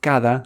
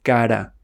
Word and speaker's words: cada: Many English speakers pronounce the D like a soft R. So instead of todo, they say toro. Instead of cada, they say cara.